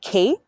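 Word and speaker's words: Khaite: one on my radar it's pronounced Kate but it's spelled KH a ite Oh have you yeah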